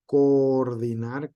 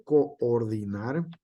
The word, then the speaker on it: coordinar: una vocal abierta aquí como lo es coordinar que nos pudiera sonar que es cor una sola sílaba en realidad se separan con ordinar sale como coordinación también sale Entonces aquí este coordinar se separa y nosotros